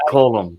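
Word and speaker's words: Colm: Yeah, it's pronounced column.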